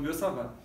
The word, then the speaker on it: Biot-Savart: Tem um R aqui, mas a gente diz que é mudo, né? Então, Biot-Savart.